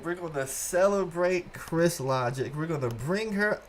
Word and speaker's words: Crys Logic: I'm 22 years old, and I have a YouTube channel that goes by the name of Chris Logic. It's spelled Cries Logic, like Crys.